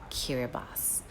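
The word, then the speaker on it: Kiribati: In the Gilbert language spoken by residents of the island nation, the letter combination ti makes the s sound. As a result, the country's name blank blank blank pronounced kiraibas.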